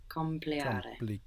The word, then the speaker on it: complicare: It's easy to lose the C because it's like part of the next syllable, no?